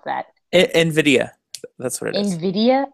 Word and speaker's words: Nvidia: I don't know how to pronounce that. Nvidia.